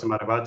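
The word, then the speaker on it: Marivate: So the V you pronounce it like a B. So it's Maribate.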